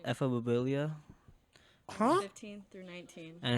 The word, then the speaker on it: ephebophilia: So the word is called ephebophilia, Huh? 15 through 19. and it's 15. Yeah. Oh, He 15 said to 19. Ebobibio.